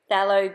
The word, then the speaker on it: phthalo: So the colours that I chose were manganese violet, magenta, and phthalo green. I'm not sure if I'm pronouncing that correctly because it's a silent PH, I think, phthalo green.